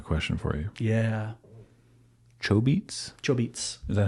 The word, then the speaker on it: Chobits: Chobits. Is that how it's actually pronounced? Yep. Ah. Chobits. I've never heard anyone say it like that. Because the chobitsu.